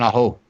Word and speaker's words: Aho: Sebastian Aho. Wait, Aho? Sebastian Aho? Yeah. Thank you, Kim. Bro, she said you could only say it Aho.